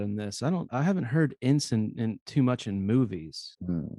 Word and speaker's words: ensign: How do you pronounce ensign or ensign?